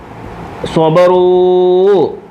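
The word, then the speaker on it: صبروا: സ്വബറൂ സ്വബറ സ്വബറ സ്വബറൂ. ബഹുവചനത്തിന് ശേഷം ഒരലിഫിനെ എഴുതിയപ്പോൾ ഈ അലിഫിന് ഉച്ചാരണമില്ല. സ്വബറൂ സ്വബറൂ സ്വബറൂ സ്വബറൂ സ്വബറൂ. അലിഫുണ്ടായാലും ഇല്ലെങ്കിലും സ്വബറൂന്ന് തന്നെ വായിക്കുന്നത്.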